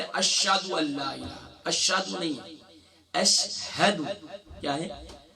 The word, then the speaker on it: اشہد: اشہد، اب اس کی ہجے کیا ہوں گی، حمزہ شین زبر اش، ہا زبر ہا، اش ہا، دال پیش دو، اشہد.